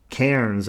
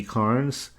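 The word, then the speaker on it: Cairns: Cities like Adelaide, Hobart, and Kairens, I think you pronounce it, maybe KS.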